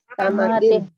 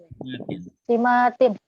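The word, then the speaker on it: سمات: Samatin. Apa? Samatin. Bukan samatin. Simatin.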